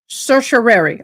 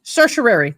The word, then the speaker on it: certiorari: It's spelled S-U. It wants me to say certiorari. Certiorari. Okay, certiorari.